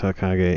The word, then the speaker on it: Hokage: Hawkage. Hokage. Hokage. Wow. Yeah, from Naruto. That sounds Japanese. Hokage. Okay, so it's Hokage in that case.